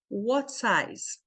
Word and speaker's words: what size: What size? What size? Esse T aqui você não vai ouvir. What size?